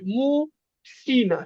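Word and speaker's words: мужчина: দেখেন মুর্শিনা ভালো। কিন্তু শ্যা উচ্চারণ হবে, মু শিনা, শ্যা। মুর্শিনা। মুর্শিনা মানে কি?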